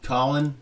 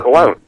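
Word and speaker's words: Colón: But you know, did you see um Colin Colin, is that how you can't pronounce his name? The the Mets pitcher, the old guy, jerseys hanging out. Oh, Cologne.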